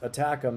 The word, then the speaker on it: ATACMS: ATACMS, pronounced ATACMS, is a long-range precision guided ballistic missile system developed by the US and manufactured by Lockheed Martin.